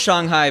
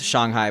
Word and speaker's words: Shanghai: It's pronounced Shanghai because so Shang means above and then Hai means sea because it's a sea-based city. So the correct pronunciation is Shanghai, but no one says that.